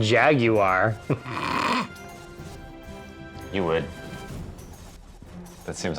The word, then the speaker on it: Jaguar: You pronounce the U in Jaguar.